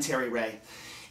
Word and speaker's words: Terry Ray: Hi, I'm Terry Ray and I actually learned tragically early in life that my name rhymes with very gay.